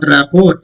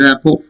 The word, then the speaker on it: rapport: A T is silent. It's not rapport. It is rapport.